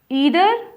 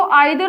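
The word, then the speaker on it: either: अब कोई जो होते हैं इनको आइदर और नाइदर भी बोलते हैं। दोनों ही प्रोनाउंसिएशन सही होती है क्योंकि ब्रिटिश और अमेरिकन इंग्लिश के अकॉर्डिंग इन दोनों की प्रोनाउंसिएशन थोड़ी वेरी करती है, थोड़ी चेंज हो जाती है। इसलिए उसमें कंफ्यूज नहीं होना है कि हम इसको ईदर बोलें या आइदर बोलें। जो आपका मन करे आप बोल सकते हो।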